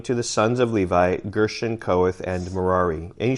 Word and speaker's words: Gershon: And Gershon rhymes with curtains.